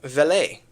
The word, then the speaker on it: Vele: Even Vele is how you say his last name.